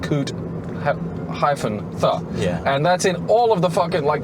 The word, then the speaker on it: Coot-tha: food yeah mount cootie the crazy the yeah the crazy thing is it's not mount cuther in the way you might think it's mount coot yeah and that's in